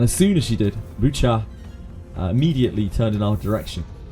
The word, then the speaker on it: Baochai: 결과 It's cha. The I is not pronounced. Bucha. It's not bow. It's boo. It's like bucha.